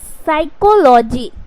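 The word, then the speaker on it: psychology: जाते हैं क्या है एस से पहले प साइलेंट रहता है ए से पहले प साइलेंट जैसे यहीं पर देखिए सभी में क्या है प है तो प को क्या करना है साइलेंट करना है तो क्या हो जाएगा साइकोलॉजी साइको अगर पी उच्चारण करोगे तो पी साइकोलॉजी हो जाए उसी तरीके से क्या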